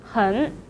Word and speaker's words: 很: third tone syllable, so the word 很 should be changed to the second tone, 很, 很好.